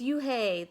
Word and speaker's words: Eun-hye: eun-hye corrected it spelled UNH II I it's pronounced yon hi oh it's you hey the boy said like you hey what about